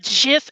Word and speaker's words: GIF: was really that important anyhow except that it's pronounced jiff and i will that is the hill i